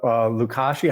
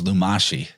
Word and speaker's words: Lumashi: Yeah, I mean, I think it's exactly what Chance just highlighted with the Lukashi. How do you say it? The Sumerian word was Lumashi.